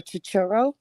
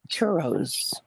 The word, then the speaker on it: churro: and ask for a chichiro and get them there oh extra syllable all right so the churro that doesn't sound right churros it is it's right i've heard